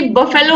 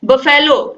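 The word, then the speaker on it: buffalo: Pronunciation की बहुत बड़ी प्रॉब्लम, जैसे मैंने आपको बताया था कि जैसे कि बफेलो होता है, बफेलो लोग बोलते हैं उसको बफेलो, लेकिन होता क्या है, बफलो होता है।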